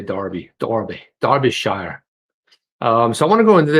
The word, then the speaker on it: Derby: over there in the uk nice i would pronounce it as derby you would say darby the orbee darby shire um so i want